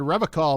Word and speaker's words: Revachol: You said Revachol, motherfucker. What's that about? I like to pronounce it the hard way. The old way.